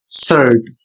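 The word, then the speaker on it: shirt: इसमें नियम है कि जब आई के तुरंत बाद, यहां पर देख सकते हैं आई के तुरंत बाद आर आता है, तो आई का अपना साउंड बदल जाता है और वह साउंड किस रूप में हो जाता है, तो आई का साउंड आ हो जाता है।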